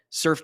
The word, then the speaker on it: Surfe: The tool is called Surf, and it's spelled SURFE.